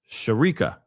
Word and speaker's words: Sherekica: Um, my name is pronounced Sherekica. Oh, I did I say it? Oh, I remember before cuz I was like, is it Shereeka?